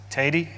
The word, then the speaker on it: Tady: It's pronounced Tady, and it's spelled T-A-D-Y.